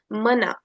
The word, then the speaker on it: mana: as you can see the first a is not surrounded by any marks. So it will be simply pronounced as U. Whereas the second A has one dash over it, has one diioritical mark over it. So the sound will be elongated and it will be pronounced as a.